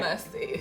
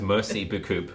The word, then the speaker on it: merci beaucoup: Obviously, I know that's not how it's pronounced. It's called merci beaucoup. But it's not mercy. No, it is. It's merci beaucoup.